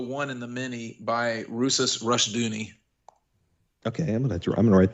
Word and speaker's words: Rousas: You need to check out the book, The One and the Many by Rusas Rushdoony. Okay, I'm gonna write that down. How do you spell that?